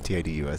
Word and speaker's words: Tidus: It's Tidus, so like you'd probably think, you know, it's Titus, not Titus.